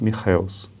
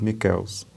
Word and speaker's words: Michels: de origem alemã e a pronúncia correta do seu nome deve ser algo parecido com o robert michels ele se naturalizou italiano e na itália seu nome seria pronunciado o roberto michaels ou roberto michaels mas ao longo deste